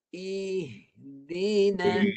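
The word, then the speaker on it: اهدنا: Satu I, satu ha tu di suara daripada pangkal hakum. Ihdina.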